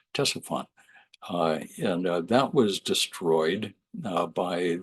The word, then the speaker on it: Ctesiphon: When the Persians moved in, they built a new capital not too far away called Ctesiphon, spelled with a CT, Ctesiphon.